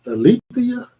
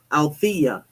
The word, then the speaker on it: Althea: Alethea. Did I pronounce that right? Althea. No, it's Althea. Althea.